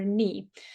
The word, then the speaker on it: knee: our leg using our knee the same pronunciation we do not pronounce k before an KN that's the same knife